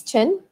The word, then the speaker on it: Tan: So for example, if her family name is Tan, spelled T-A-N, pronounced Chen, for example, Chen Li Mei, Chen would be at the front, and then Li Mei.